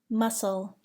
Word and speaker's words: muscle: Do not pronounce the C in the following words: indict, muscle, scene, scent, scissors.